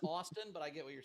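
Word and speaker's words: Ashton Kutcher: It's Ashton Kush. That's good. Great game. Pronounced Austin, but I get what you're saying.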